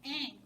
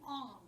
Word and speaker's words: Aang: You're not wrong, but in that series they got character's name wrong because the main character's name is Aang. They call him Ong.